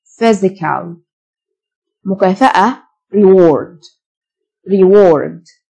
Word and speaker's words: physical: psychological mental mental جسماني physical الPH تنطق فيه physical مكافأة reward reward honor